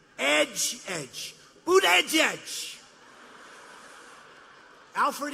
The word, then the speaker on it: Buttigieg: Boot, edge, edge. Say edge like the edge of a building. Edge, edge. Boot, edge, edge.